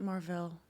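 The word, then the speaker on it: Mar-Vell: Isn't it Marvel? Marvel. Isn't it Marvel? Well, Marvel was Jude Law's, I think, character, but Marvel was an actual character in the comic books, and they pronounced it Mar-Vel.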